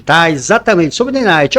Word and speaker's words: Nanite: quero falar sobre o nenit tá exatamente sobre nenit alguns pronunciam como nenat ou nin independe como seja pronúncia Gente o que que